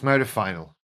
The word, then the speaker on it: modafinil: So I eventually moved on to and there is great debate over how to say this. I say modafinil, modafinil, modafinil. I don't, but that's what it is. It's modafinil, modafinil, modafinil, modafinil.